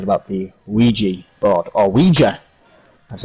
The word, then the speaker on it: Ouija: So, of course, we are, just in case you're wondering, we are talking about the Ouija board, or Ouija, as it's officially pronounced, the wonderful talking board.